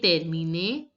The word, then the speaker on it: terminer: Here ER is to be pronounced as AY.